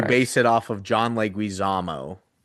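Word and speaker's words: Leguizamo: And you base it off of John Leguisamo, but you pronounce his name wrong. And you say John Lamo.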